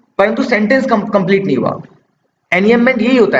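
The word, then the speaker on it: enjambment: बोलते हैं एनएम मेंट इसमें जो एनएम मेंट में जे है ना ये साइलेंट है ठीक है इसको एनएम मेंट पढ़ते हैं एन जमेंट नहीं पढ़ते ठीक है तो ये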